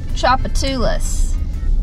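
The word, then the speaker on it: Tchoupitoulas: And there's a street called Chapatulas. But it's called Tujitu. But the T is silent. Google's gonna tell it. Yeah, Chapatulas.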